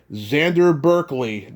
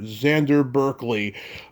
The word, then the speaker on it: Xander Berkeley: I'm going to be interviewing Xander Berkeley, not Xander, Xander Berkeley.